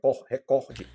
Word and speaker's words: recorde: Então observe que a sílaba tônica não é re é recorde, OK?